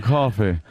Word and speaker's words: Coffey: John Coffey. Not, what is it? Like the drink, but not spelled the same.